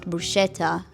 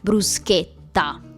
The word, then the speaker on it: bruschetta: How can you know that for example it's not bruschetta, but it's bruschetta?